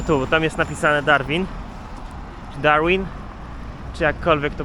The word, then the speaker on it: Darwin: Darwin.